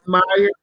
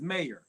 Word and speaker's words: Mayer: Moffitt, Jonathan Tudo, Matthew Meyer. I ain't gonna lie, I couldn't pronounce that dude's name. McClay T, Zachary Loveday. It's Mark Peter. Mayer. It's Mayer. Mayer? Yeah, Mayer.